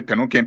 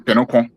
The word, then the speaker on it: Penonkon: I keep hearing people say Penonken, Penonken. No, Putu Kran do not pronounce the town. Penonken is not Penonken, it's Penonkon.